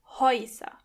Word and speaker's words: Häuser: As you can hear, when the letter A umlaut comes before the letter U, together they are pronounced Oi. Häuser.